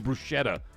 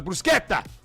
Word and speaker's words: bruschetta: it doesn't sound it just sounds like white people saying bruschetta when they go to a restaurant you I'll have the bruschetta. It's a brusqueta.